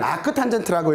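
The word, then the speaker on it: arctan: 그리고 넘어왔어요 라고 해서 인버스를 붙여요. 읽을 때는 아크 탄젠트라고 읽어요.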